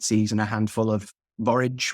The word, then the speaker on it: borage: and a handful of borage which is is is is pronounced to rhyme with courage a lot of the